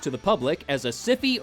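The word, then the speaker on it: Syfy: the public as a sify original movie and yes I still refuse to pronounce it sci-fi because I'm a dick and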